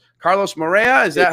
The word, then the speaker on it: Moreira: Carlos Moreira. Is that how we pronounce it?